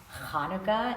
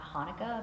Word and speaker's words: Hanukkah: and it's actually pronounced Hanukkah and not Hanukkah but most Americans can't make that sound ha new he on